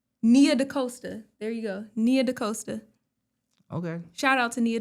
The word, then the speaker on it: Nia DaCosta: Pronounce it correctly? Let me see. Yeah. Nia DaCosta. There you go. Nia DaCosta.